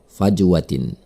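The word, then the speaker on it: فَجْوَةٍ: Ada huruf jim mati di tengah kata tersebut. Maka cara membacanya adalah dengan memantulkannya dengan pantulan kecil. Fajwatin.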